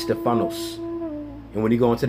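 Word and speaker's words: στέφανος: Now, when you go into that word masteries in the Greek, that word is pronounced Stephanos.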